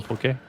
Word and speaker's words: poke: Were you trying to spell poke? Which by the way is the proper pronunciation.